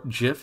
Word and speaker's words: GIF: an option for for a gif or Jif if you're trying to go for the quote-unquote correct pronunciation JPEG you have options